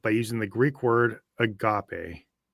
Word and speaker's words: agape: The Bible refers to this kind of love by using the Greek word agape pronounced agape.